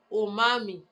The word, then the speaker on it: umami: So the new taste quality of some umami, pronounced umami, which is the meaty savory taste drives our appetite for amino acids.